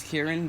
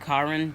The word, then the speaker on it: Karin: it was saying because i kept pronouncing as kieran which i probably will and said karen because i hate the name karen i call her kieran